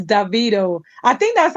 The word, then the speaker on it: Davido: be to tell you it's not DeVito it's Davido I think that's how